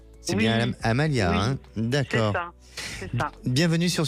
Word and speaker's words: Amalia: Est-ce que je prononce bien le prénom ? C'est bien Amalia, D'accord.